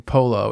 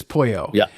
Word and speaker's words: pollo: Well, it wouldn't be chicken polo. It would be like, because it's pollo, which means chicken.